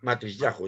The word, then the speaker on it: Matisyahu: al Rototón a contratar a más Matisyahu, sí, Matisyahu, ya lo pronuncié bien.